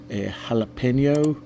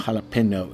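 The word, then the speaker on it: jalapeño: to think about it jalapeno it's not jalapeno it's jalapeno so we're going to get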